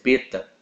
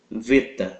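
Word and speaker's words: βήτα: Beta mas uma pronuncia Beta ele ele através doos tempos ele ganhou no no grego moderno o som de v Ok então a pronúncia no no grego moderno é veta Ok mas grego antigo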